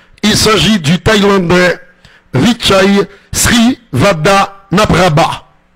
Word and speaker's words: Srivadhanaprabha: Il s'agit du Thaïlandais Vichai Srivadhanaprabha. Srivadhanaprabha. Et oui, pas facile à prononcer, mais si vous vous entraînez, vous allez y arriver.